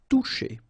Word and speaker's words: toucher: Okay, remember you combine this O and U, you get the sound OU, and then C and H, sh. Toucher.